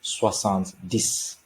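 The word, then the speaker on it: soixante-dix: is this okay so 70 is pronounced as swasan's dis and 71 while observing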